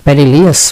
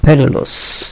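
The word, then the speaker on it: perilous: মানে হচ্ছে বিপদ সংকুর পিলিয়াস বলবেন না পেরিলাস ভারিলাস ভেরিলাস ফুট মানে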